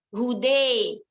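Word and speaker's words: هدى: Misalkan lafadz huda diimalahkan imalah mahdhah atau imalah kubro, maka membacanya dengan hude.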